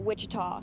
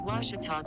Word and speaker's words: Ouachita: at a baptist university back in texas everybody pronounces it wichita but really it's ouachita washington washington how would you pronounce it it's washita baptist university get it right it's watertall people let's